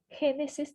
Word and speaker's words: Génesis: É Gênesis, o que esse acento faz é marcar a sílaba tônica, a sílaba que dá impulso para a palavra, aqui dá potência para a palavra.